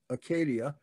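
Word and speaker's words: acedia: you the demon of acadia and that's how that is pronounced in greek acadia which is also called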